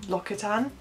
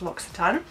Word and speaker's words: L'Occitane: It's from L'Occitane, which I thought was L'Occitane. I don't know, is that a normal thing to assume? But yeah, apparently it's pronounced L'Occitane.